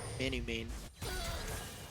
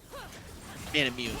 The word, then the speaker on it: Manamune: Lucian picking up that Manu main. Right? Is that how you say it? Manamune, sorry.